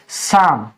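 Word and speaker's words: psalm: तो वो साइलेंट रहता देखिए यहां पे भी एम से पहले तो यहां पे एल सी साइलेंट है और एस से पहले पी है तो ये भी साइलेंट है तो इसको हम क्या पढ़ेंगे शाम हे दोस्तों मैं सुखबीर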